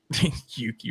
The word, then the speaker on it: Yuki: is terrible but um Yuki rhymes with dookie.